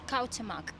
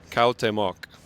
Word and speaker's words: Cuauhtémoc: Cuauhtémoc. Cuauhtémoc.